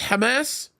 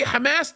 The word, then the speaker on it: Hamas: on a regular basis that's how we pronounce it in the Arabic language that's my second language